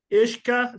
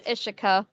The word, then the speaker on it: Ishika: And Ishka, sorry if I hacked up your name, but I did. No, it's okay. It's Ishika. Yeah. Ishika, perfect. The pronunciation Ishika.